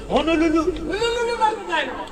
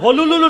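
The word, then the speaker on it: Honolulu: হনুলুলু, আরে হলুলুলু নয়, হনুলুলু। ভালো করে উচ্চারণ করতে হবে।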